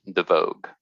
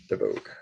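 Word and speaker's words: Devoogd: It's pronounced Devogue. Devogue.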